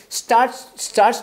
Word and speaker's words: starts: Till every dark, till every dark and addiction starts to break, starts to. 에스타메 T 발음 안 나니까, starts.